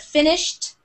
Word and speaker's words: finished: a d sound but finished it sounds like a t at the end finished and walked it's